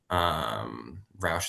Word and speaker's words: Rauch: Roush is spelled Rauch.